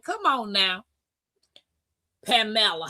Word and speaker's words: Pamela: I said, "Well, it's Spanish. It's Pamela. It's Pamela."